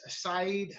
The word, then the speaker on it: Sayd: His name is Said Hussain. Am I correct? Is that the correct pronunciation? Said, right? Said, yes, Said Hussain.